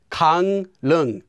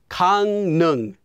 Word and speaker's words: 강릉: Anytime the first syllable ends with the consonants 이응 or 미음, those two, and the second syllable begins with the consonant 릴, well, that 릴 will become pronounced as 니은.